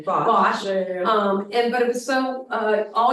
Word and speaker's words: Bosch: Bosch.